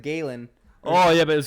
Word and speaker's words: Galen: the american side mr galen rupp won gallon gallon gallon cars can't get past calling him gallon because of the way it's spelled like g-a-l-e-n gallon gallon gate yeah